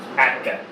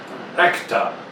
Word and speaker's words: Atka: Acta. Atka. Atka. Yeah, but the first way you spell it was acta. Yeah, I know. I realized that after I said, oh, like, no, that's not right.